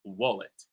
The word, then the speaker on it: wallet: And though we pronounce it with an O, we write it with an A. So, it's written wallet, but it's pronounced wallet.